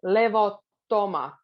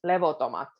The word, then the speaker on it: levottomat: This sentence has a lot of double consonants. So levottomat. It's hard to pronounce a double T, but we still put a bit more focus on the double T. Levottomat. Because if you say it with one T, it sounds levotomat.